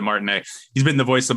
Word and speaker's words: Martinet: he pronounces it Charles martinette has a t at the end but I think he pronounces it Martin he's been the voice